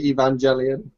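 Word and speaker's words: Evangelion: just down to pronunciation I'd say evangelon but that's because I'm British ah okay so I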